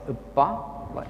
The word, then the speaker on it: uppa: It's pronounced as uppa, as in kappa.